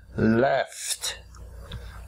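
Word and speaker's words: laughed: make it past tense we write L a ugh Edie but we pronounce it left left left C or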